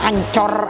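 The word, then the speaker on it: Anchor: Kalau orang Madura bilang ancor, atiku ancor, tapi memang ini namanya ancor kita bacanya ya, ancor atiku.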